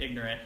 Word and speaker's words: ignorant: Yeah, when in McDonald County where I grew up, they made ignorant into just 2 syllables.